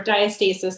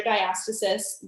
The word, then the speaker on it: diastasis: a very popular topic so diastasis or diastasis there's a few different ways to pronounce it i just say diastasis is very common during